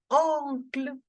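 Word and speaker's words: oncle: to notice here is in English we pronounce it as uncle but in French we have to make the sound of on okay on T on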